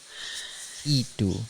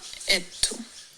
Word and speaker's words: y tú: Y tú. It's y tú, not et tú.